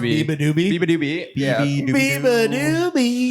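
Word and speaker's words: beabadoobee: That's how it's pronounced, Biba Doobie.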